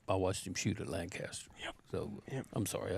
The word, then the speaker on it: Lancaster: So I'm sorry, I didn't say it right. Lancaster. Yeah, it's Lancaster. We're in Texas. We go to school with some of those boys, and every time I say it, Lancaster, they always say, no, it's Lancaster. Yeah, they gave me a talking to one day. They're like, why are you pronouncing like that? I'm like, Because you're not in Pennsylvania anymore.